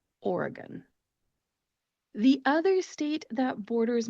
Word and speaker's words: Oregon: correct that pronunciation because it's actually Oregon. Oregon. The E in the middle of the word is a schwa type vowel sound because it is the unemphasized syllable. So when you pronounce that, make sure to take that E and turn it into a schwa sound. When you pronounce it, it therefore becomes Oregon. Oregon.